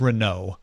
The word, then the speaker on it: Renault: sure on that one I know it's Renault cuz it's French um did I say